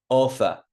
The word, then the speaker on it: offer: on the second ah look offer M offer I'm not saying offer offer on the first syllable order on the first